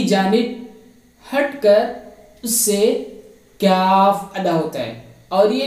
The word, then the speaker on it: کاف: The letter kaf is pronounced by the raising by the back end of the tongue to touch the hard plate.